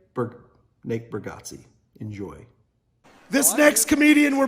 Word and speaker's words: Bargatze: how you say his last name burger Nate bargatze enjoy this next comedian were bringing to the